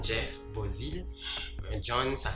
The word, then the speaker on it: Beauzile: Faut que je dit ça, non pas c'est John Jeff Bozil. John, ça s'écrit J''H-O-N, John Pamela.